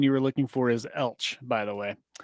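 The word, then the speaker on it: Elche: And the pronunciation you were looking for is Elch, by the way.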